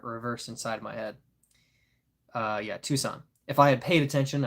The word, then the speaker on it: Tucson: It's actually pronounced Tucson. Oh, I was reading Tuscan, wasn't I? Yeah, the S and the C were reversed inside my head. Yeah, Tucson.